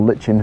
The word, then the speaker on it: lichen: But it's actually a plant, so it's lichen or lichen, it depends what you want to pronounce it as, but I call it lichen.